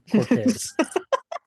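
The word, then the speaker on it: Cortés: Hernan Cortez.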